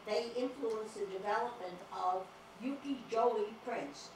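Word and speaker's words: ukiyo-e: These books were brought to Japan, where they influenced the development of Yukijoi prints. It's Y-K-I-Y-O-E. The Y is pronounced with a J.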